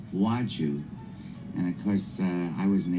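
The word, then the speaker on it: Władziu: But it's Polish for Walter.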